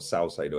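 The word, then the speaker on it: Caicedo: I want Tony Madison and Calcedo, or Salcedo, however you say his name. It's Calcedo.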